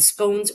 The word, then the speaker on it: scone: p uh tea and scones or scon, whichever way you pronounce it. I I think both are fine.